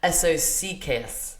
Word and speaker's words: eso sí que es: So, how you say "it is what it is" in Spanish is the word socks, but pronounced each letter. So it's eso sí que es.